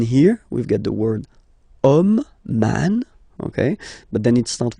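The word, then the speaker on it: homme: okay and then here we get the word om man okay but then it starts with Ash as in French Ash is not pronounced so the first sound that we hear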